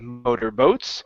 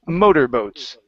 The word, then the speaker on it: motorboats: here this is motorboats so the stress is at the beginning instead of motorboats it's motorboats mother boats good one more